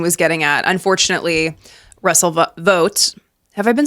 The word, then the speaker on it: Vought: Okay, Russell Vought, the proper way to say it.